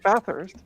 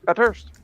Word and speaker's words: Bathurst: and English area so the English pronounces Bathurst but then you have the friends that go at first yes yes that's my